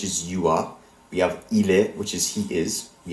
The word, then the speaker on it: il est: Notice how all of these verb conjugations end in a silent letter. In fact, the form used for il, he, and elle, she, and on, one, ends in two silent letters, s and t. As a result, neither of these letters are pronounced.